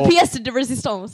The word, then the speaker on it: pièce de résistance: It was pièce de résistance. It was coming out as... The pièce de résistance. Pièce de résistance. I was adding another syllable, but I couldn't figure out how to not do it.